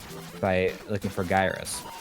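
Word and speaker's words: Gyruss: I always call it Gyrus, but it's like in pronouncing the ad, I think it's Gyrus. That's what the ad says. That's what the ad says how to pronounce it.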